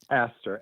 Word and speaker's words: Astor: Is it asked or Aston, the name of the group? Astor, ASTOR, Oh, okay, Services for got it.